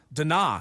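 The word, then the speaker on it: DeNA: That's how they spell it. Dina.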